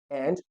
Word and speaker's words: et: A means and. The spelling of and is et, means the word et means and. Okay, a, and the pronunciation is a.